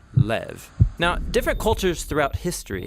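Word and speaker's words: לב: this prayer heart which in Hebrew is sometimes pronounced or more often in a shorter form Lev now different cultures throughout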